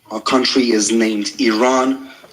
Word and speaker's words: Iran: the Iranian people but you're pronouncing our country's name wrong our country is named Iran not Iran please once and for all let's get this